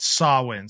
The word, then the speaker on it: Samhain: where we get the term Halloween, is from Samhain. It's called the Celtic, yeah, exactly, festival of like Samhain. Yeah, it's like too. It's spelled Samhain, but it's like, if you look at the pronunciation, it's called Samhain.